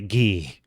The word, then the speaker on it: Guy: So I wish they pronounced it the French way, Guy.